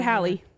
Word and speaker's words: Hallie: Mr Jack Marshall after Hallie unintentionally Haley how do you say it Hallie Hallie how I said it like Halle Bailey Halle Berry oh no